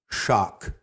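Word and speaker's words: śak: goes back to the Sanskrit root shock which is spelled sak and it's found in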